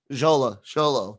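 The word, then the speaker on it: Xolo: Sholo, thank you.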